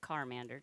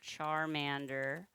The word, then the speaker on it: Charmander: Not Carmander. Charmander.